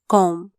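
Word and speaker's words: comb: ए R where कोरनो सी ओ एम बी कॉम बी साइलेंटचा सी ओ एम बी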